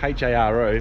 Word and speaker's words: Haro: We're in a town called HARO, H-A-R-O, but they pronounce it HARO, and which is the capital of the Rioja region, I found out yesterday.